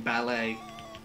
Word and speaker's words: ballet: Just like the T is silent in ballet.